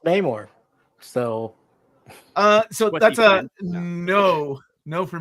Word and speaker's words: Namor: Actually, I believe it's French and the R is silent, so it's just Namo. Oh, shut up. Stan Lee says it's Namor.